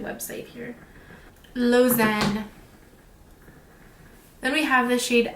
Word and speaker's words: Lausanne: okay so we gotta go back to my pronunciation website here lozen then we have the shade alforn which is